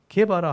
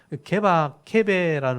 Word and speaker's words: 게바: 이 게바라는 말은 히브리어예요. 히브리어. 그러니까 구약에 쓰는 유대식 발음이고, 페트로스, 베드로라는 말은 헬라식 이름이에요. 페트로스, 베드로, 반석. 케베라는 말이 원래는 바위란 뜻이거든요. 바위란 뜻인데 이게 헬라어로 바꾸면 베드로가 되는 거예요. 페트라스가 베드로가 되는 거예요. 그래서 게바는 유대식 이름, 베드로는 헬라식 이름 이렇게 표현하면 되겠죠.